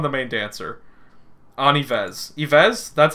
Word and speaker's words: Yves: Yves? That's how you say the name, right? I'm crushing, I think. I think a bias just developed. Like, Eve. It's pronounced Eve.